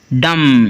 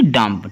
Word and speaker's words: dumb: तो DUMB, डम, ना कि डम्प। ठीक है जी? तो कहीं पर भी अगर बी से पहले आपको एम लिखा हुआ दिखाई देता है किसी वर्ड में भी, तो बी साइलेंट रहेगा।